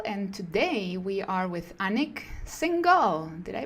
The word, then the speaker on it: Anik Singal: beyond the hustle and today we are with anak single did I pronounce it well you did yes actually many